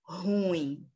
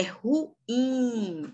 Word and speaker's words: ruim: é oxítona perfeito gente ruim é pronunciado dessa forma que eu disse aqui agora para vocês não é ruim é ruim a sílaba forte é o certo próxima aqui vamos ver